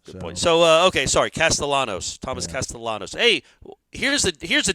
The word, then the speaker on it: Castellanos: The 2 L's next to each other I always thought was the Y sound.